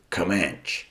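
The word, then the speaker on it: Comanche: in the renowned cycle kamanche station or some of Americans pronounce it comman now this has a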